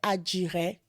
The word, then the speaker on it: adiré: A pronúncia certa, né? É adiré, né?